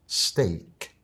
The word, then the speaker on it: steak: Y ahora te la digo con la pronunciación correcta. Steak.